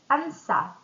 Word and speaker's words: answer: So it's going to be silent W and silent gh silent W answer right wrong.